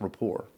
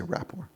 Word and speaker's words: rapport: rapor from now years I think it's pronounced raor no I'm going to say rapor yeah from years from